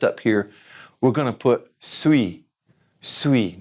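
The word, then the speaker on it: suis: here we're gonna put sweet sweet now that's spelled Sui s movie because it's you I and at the end s don't say it sweet now let's put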